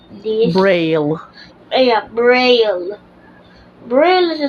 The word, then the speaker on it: Braille: to read and type bra how do you pronounce this Braille yeah Braille bra is a special race type